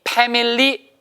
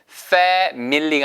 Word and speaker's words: family: 발음이 family 아니에요. 위치 아랫입술 family라고 안 들리고요. fa 액센트가 있기 때문에 뭐처럼 들려요. family가 아니고 family.